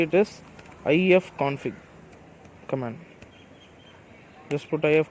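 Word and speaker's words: ifconfig: for it just how to say it is IEF config command just put I have conflict sudo yeah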